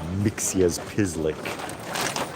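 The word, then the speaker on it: Mxyzptlk: Yes, it is pronounced Mixas Pislick.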